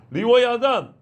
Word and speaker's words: 리워야단: 그런 것처럼 리와야단, 이제 영어식 발음으로 리바이어던이라고 그래가지고 토마스 홉스가 기독교 조롱하려고 리바이어던이라는 책을 썼어요.